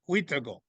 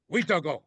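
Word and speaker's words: wīhtikow: In mm, Cree, it's pronounced Witago.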